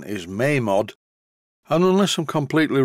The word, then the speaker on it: Mamod: By the way, I'm going to refer to this as a Mamod steamroller. I know the real pronunciation is Mamod, and unless I'm completely wrong, any word in